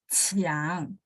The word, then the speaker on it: Qiang: Ya, Qiang. Q bacanya CH.